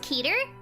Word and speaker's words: Keter: look into that peter it's pronounced keter i like caterer my favorite scp is